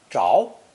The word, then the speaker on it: 着: Now we have a group of 5 slides on a green background, where the character is pronounced 2nd tone, zháo, and refers to the basic idea of wood catching fire.